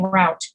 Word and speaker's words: route: was raised but many people are raised saying route especially in the midwest i find when i'm